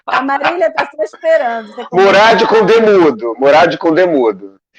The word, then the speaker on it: Murad: Mas é Murad, o D não é mudo, não é inglês, né?